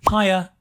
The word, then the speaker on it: hiya: In many parts of Britain, we say, hiya. Hiya, I don't know how you spell that, but it sounds like the comparison high, higher. Hiya (chuckles).